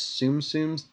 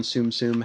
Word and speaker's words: Tsum Tsum: How do you pronounce it? This Tsum Tsums, TSUM.